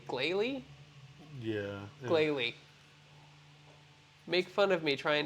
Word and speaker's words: Glalie: Galley? Glalie? Yeah. Glalie. Make fun of me trying to pronounce the names.